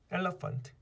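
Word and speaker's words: elephant: 이 같은 경우에는 강세가 앞에 있죠. 그리고 여기 있는 E와 제일 뒤에 A는 역시 어로 뭉겠어요. 그럼 어떻게 돼요? 에, 러, 페, 어, 은트. 에, 러, 펀트. 엘러펀트. 이렇게 돼요.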